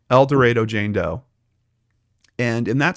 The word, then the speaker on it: El Dorado: i always mispronounce it what's the arkansas pronunciation el dorado thank you el dorado jane doe and in